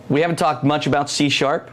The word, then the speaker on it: C#: Okay, so C#. It's pronounced C#, and that's why I keep saying C#.